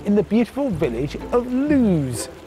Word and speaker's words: Loose: the beautiful village of luz spelt loose but pronounced to rhyme with muse the landlord sure gets